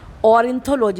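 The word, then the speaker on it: ornithology: ऑरिंथोलॉजी, इसको तो कोई प्रोनाउंस करना मुश्किल नहीं है, ओ आर से और हो गया, एन आई नी थोलॉजी, ऑरिंथोलॉजी।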